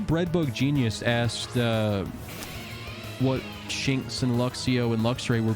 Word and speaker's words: Shinx: based on lynxes because shinx rhymes with links use thunderbolt hello lemonade